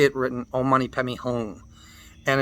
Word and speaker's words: Hum: There is a letter for the ng sound. If the Tibetans wanted it ng, they would have put it ng. But it's Hum. Om Mani Padme Hum. The lips close to finish the syllable.